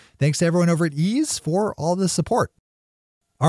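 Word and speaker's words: Eaze: Ease is super strict about staying in compliance with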